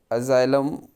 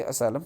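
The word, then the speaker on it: asylum: अजाइलम, कुछ लोग इसे असाइलम प्रोनाउंसिएट करते हैं।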